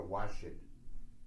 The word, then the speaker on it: Wajid: Wajid means existence, but as all these wazifas apply to the adjective of the divine being, Wajid is the existent one. Or Washid is the proper pronunciation.